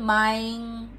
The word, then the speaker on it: maayong: Okay, so the Bisaya people, when they pronounce maayong hapon, they actually slang it a little. Ayo ay maayong hapon, maayong. So they usually remove the O in between.